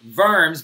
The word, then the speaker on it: Worms: so and it's pronounced verbs because it's a german city and they do not pronounce W's like we do okay so they would